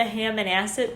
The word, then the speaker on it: Hammonasset: So I drove down to Hammonasset Beach.